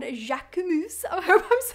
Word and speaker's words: Jacquemus: Jacquemus. Jacquemus. Of course, in French, the sound of the letter U is not OU, but rather U. So Jacquemus.